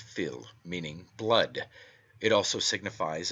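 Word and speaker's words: fil: is taken from the Irish word Phil fi l pronounced Phil meaning blood it also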